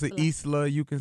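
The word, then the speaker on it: Islah: that's how am I saying it correctly I pronounce it Isla you can say Isla however you want to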